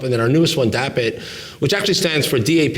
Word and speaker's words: Dapit: So kind of Dapit rhymes with Tap It.